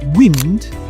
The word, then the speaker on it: wind: The next one is wind and wind. So wind a noun wind again a verb. All right. So wind as in the wind is very strong to them and wind a verb as in to wind someone up.